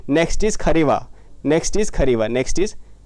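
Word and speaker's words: Kharewa: Next is खरेवा। Next is खवा। Next is यह वो वाली खरेवा नहीं है। यह खरीवा है।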